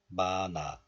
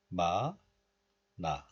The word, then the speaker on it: 많아: So in this case, 니은 moves to the next letter, and this is pronounced as 마나, 마나.